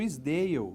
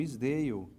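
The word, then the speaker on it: Esdaile: Abaixo desse, nós teríamos o Isdale, isso mesmo, Isdale. se escreve SDAILY.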